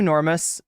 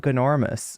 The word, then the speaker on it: Gnormus: Gnormus says, do you want me to call you Normus? I feel like I remember you saying that it's not Gnormus, okay? You don't, the G is silent.